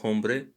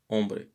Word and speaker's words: hombre: say you are blue the h once again is silent the letter h is silent here just like for hombre it's not hombre but ombre just like in hola